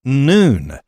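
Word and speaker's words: نون: It's pronounced noon, when its fighters overran parts of Iraq.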